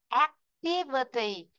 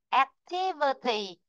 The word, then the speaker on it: activity: Khi chúng ta đọc thì chúng ta vẫn thấy là ạ, nó có trong ấm đấy, activity. Nhưng mà tí là cố lên, vơ tí là cố xuống, đúng không? Activity. Activity, vì vậy trong ấm sẽ rơi vị trí thứ hai, rồi vào chữ ti, không rồi vào chữ